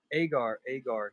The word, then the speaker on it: Agar: Agar.